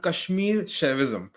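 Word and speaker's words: Kashmir Shaivism: So, how is this pronounced your your branch of religion here? Yeah, it's called Kashmir Chavism.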